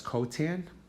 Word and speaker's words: cot: cotangent is cotan um you could pronounce that as cotan but you spell it as clt okay so the reciprocals